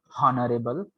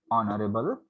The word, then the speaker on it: honorable: So we people do not pronounce honorable. We pronounce honorable.